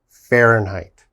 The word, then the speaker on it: Fahrenheit: to spell even for me fahrenheit okay we pronounce that fahrenheit so 20 degrees celsius is the same as